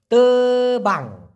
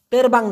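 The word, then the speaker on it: terbang: নেক্সটে তেবাং, তেরবাং না কিন্তু তেবাং, মালয়েশিয়ান ভাষায় তেরবাং, তেরবাং, তেরবাং মানে হচ্ছে উড়তে পারা, ফ্লাই করা, উড়া।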